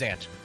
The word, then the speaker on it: Zant: It is just pronounced ZanT.